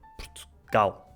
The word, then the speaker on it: Portugal: No caso de Portugal, Portugal, é o A.